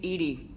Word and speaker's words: EDI: Why are you named EDI? EDI is the phonetic pronunciation of EDI. That is an acronym for Enhanced Defense Intelligence.